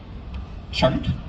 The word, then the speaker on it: Choate: Okay, next up we have, I'm going to butcher your last name, Isabella Choate, pronounced like Bode, Choate.